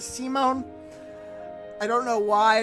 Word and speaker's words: Simone: I know it's pronounced Simon. It looks like it should be Simon, but it is Simone.